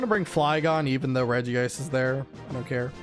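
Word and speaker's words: Regice: Also, do you guys pronounce it Reggi ice or Reg ice? This is another question that I need to ask. Oh, and if I'm mispronouncing Pokemon names or not, cuz I always thought it was Reggi Ice, cuz you know, you pronounce it Reggie Steel, Reggie Rock, Reggie Ice. Reggie Ice.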